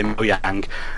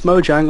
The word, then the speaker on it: Mojang: the pronunciation of it we always say moang and then people like no no it's Mojang honestly it's Mojang and it's quite nice